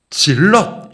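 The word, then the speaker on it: zealot: 둘 다 의미는 같습니다 셀롯 뭐냐하면 영어로 발음하면 질럿 시입니다 연령대가 다음 하십니다만 한때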